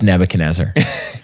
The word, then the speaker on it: Nebuchadnezzar: The person's name rhymes with Snebzar. Snal Gastanzar. It's Nebuchadnezzar.